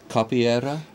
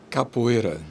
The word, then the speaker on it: capoeira: we're going to all learn how to say this together okay everybody now watch us capera capera capera not too many R but capera cap well